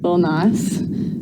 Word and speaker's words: Lil Nas: Lil Nas.